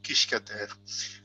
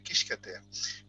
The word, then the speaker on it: Quisquater: Donc vous dites Kishkater. Bon, c'est pas la prononciation latine qui est beaucoup plus dure, etc. Mais donc voilà. Donc mon nom est très simple, c'est Kishkater.